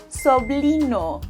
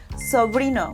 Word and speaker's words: sobrino: He says sobLino, with and L, soblino instead of soBrino, which means nephew, how cute and adorable is that?